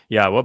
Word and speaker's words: Yahweh: yahwa heard about this Yahweh by the way is the proper pronunciation of yod wah Our elah God as